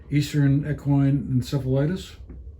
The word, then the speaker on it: Eastern equine encephalitis: And then finally, I wanted to ask about this EEE virus, Eastern equine encephalitis. Did I pronounce that correctly?